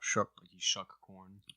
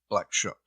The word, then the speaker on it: Black Shuck: that just kept saying shucks shucks black shuck shuck corn okay black shook in the holla man